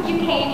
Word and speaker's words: Duquesne: Girl: Duquesne University. (pronounced Doo-cane) And I was classically trained, But I love musical theatre, And I'm exploring Where I might go...